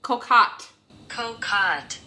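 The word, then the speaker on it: cocotte: really cute name and the pronunciation of this recipe is french and so i have looked up how to pronounce it correctly it is called egg cocot cut the basis for this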